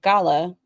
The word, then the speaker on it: Gala: And we say gala to remind with to rhyme with ca without the r sound.